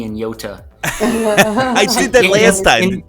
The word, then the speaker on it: Yota: pronounce the T in Yota I did that last time in in Toronto we we we turn our T's into D's so I say Yoda Yoda I've heard both